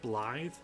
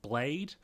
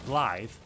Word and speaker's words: Blaidd: it should be pronounced Blade, especially since he's carrying a huge sword. You'd think his name would be Blade, but it's actually Blythe, and it's Welsh for a wolf because he's kind of a wolf.